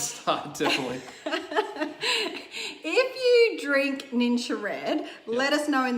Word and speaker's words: Ningxia: We are, in fact, talking about Ningxia Ningxia. Red. How is it actually pronounced? Ningxia. Ningxia Red. Okay.